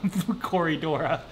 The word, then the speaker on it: Corydora: When you think about Corydora, the name, what do you kind of think? I kind of think like it rhymes with Dora the Explorer, Corydora.